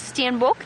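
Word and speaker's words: steenbok: species and St I imagine that that is Stan book that you are asking about so you spell it s t e n b k Stan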